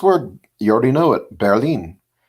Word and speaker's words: Berlin: It's just pronounced differently. They say it like the word bear, and then lean, Berlin. Berlin. We say Berlin, and they just say it with a little more different vowel pronunciation.